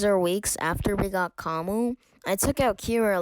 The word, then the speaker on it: Camus: reason why it's pronounced kamu and not kamus it's because i think it's either french or italian and it's because they don't really say their s's like they keep it silent but anyways so like